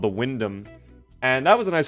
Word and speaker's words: Wyndham: Windhelm? No, Wyndham. I don't know how it's spelled, but it's not the Windhelm.